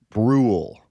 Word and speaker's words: Brule: Yeah, it's Brule rhymes with or rule.